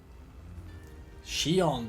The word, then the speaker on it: Shion: Shion, that's how you pronounce her name.